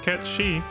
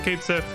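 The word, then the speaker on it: Cait Sith: Sith whose name is supposed to be pronounced K she um legitimately I'm not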